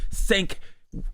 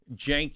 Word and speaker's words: Cenk: Sank is it? It's Weaguer, right? Jenk Uer. Jenkuger. I know. I know. It's a giant pain in the ass. This seems pronounced like a J.